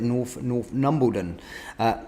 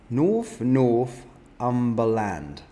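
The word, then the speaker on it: Northumberland: Let's have a little look here at North Umbledon. Sorry for the pronunciation on that one. North Umbledon. North Umbledon. North Umberland.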